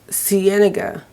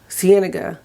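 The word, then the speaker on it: Sienna: going to bring my apparently I've been saying it wrong it's Siena Siena n andega the one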